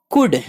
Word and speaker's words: could: COULD कुड यहाँ L silent है.